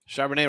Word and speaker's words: Charbonnet: Charbonnet rhymes with Chardonnay.